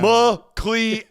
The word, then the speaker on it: McLeod: Sound it out. It makes the E sound. McLeod.